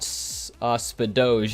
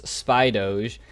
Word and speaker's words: Spydoge: On Ground Zero, it's not Spadoge, it's Spydoge. Then I think you said it's not Layduck, it's Leduck, just short on the Le.